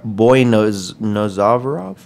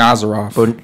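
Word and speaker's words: Boynazarov: One thing that wasn't a war, though, Eric Silva defeating Anvar Boynozavarov. Yeah, we're going with that. It's Boynozarov. Hey, that's what's up, Dave. I think that's my American way of pronouncing it.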